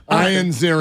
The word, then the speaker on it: Ian Ziering: He pronounced it okay. Ian Ziering.